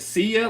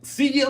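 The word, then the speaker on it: Seiya: I keep saying it, see ya, like see ya later on a home run. So see ya, Suzuki.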